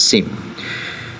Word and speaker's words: SEM: the mean or shortly we can pronounce it as same.